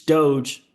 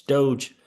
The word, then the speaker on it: Doge: creator who can't seem to be able to pronounce Doge correctly it's Doge bro it's Doge all right so 38 cents for Dogecoin and